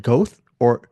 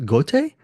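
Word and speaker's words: Goethe: the a novel by I pronounce it goth or but it's actually I think pronounced goate so this novel young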